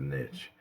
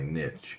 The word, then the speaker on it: niche: saying Niche instead of niche but I hear a lot of people saying that's my Niche it's not Niche it's niche Niche naive and Niche